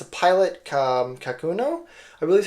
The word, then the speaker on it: Kakuno: this is clear but it's a pilot um kakuno I believe how you pronounce it um it is in uh ultra